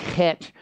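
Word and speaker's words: ח: make the shape of a Hebrew letter it's pronounced het and it's the first letter in the Hebrew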